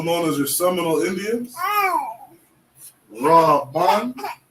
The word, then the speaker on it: Reuben: Reuben. How we say Reuben in Hebrew is Ra-Ban.